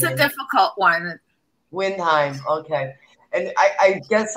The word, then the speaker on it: Windheim: they got to ask you how do you pronounce your last name on fun windheim windheim i said it wrong there we go it's a difficult one windheim okay and i i guess i've got melanie